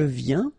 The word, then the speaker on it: viens: Je viens Final S not pronounced, okay? And when you combine this IEN, you get this yen, yen.